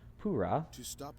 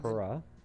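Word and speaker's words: Purah: introduced to robbie and pura yes that is how her name is pronounced not pera or pera you're taking to another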